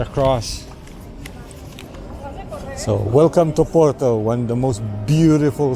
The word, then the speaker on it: Porto: and snacks proper food welcome to Porto or as the locals say it o Porto or specifically B nobody